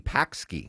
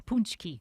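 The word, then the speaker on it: pączki: In Wisconsin we can't say the word punchki which is weird because there's a Polish community there. So you think I look at the word it's I see pski but it's it's it's also a pastry. And I only know this because there's a Polish community in Wisconsin. Yeah. It's punchki.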